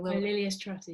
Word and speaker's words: Lilias Trotter: Lilias Trotter, yeah.